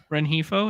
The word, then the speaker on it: Rengifo: Rengifo? Renhefo, is that how you say it?